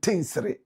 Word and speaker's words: Tinsri: Matthias Tete says, and Tinsri, don't laugh after listening. I'm sure he's laughing at my pronunciation. Tinsri. I hear the correct pronunciation is Tinsri.